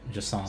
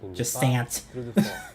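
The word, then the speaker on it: Jusant: It's French, so I believe Jasant, like you don't pronounce the T, Jasant.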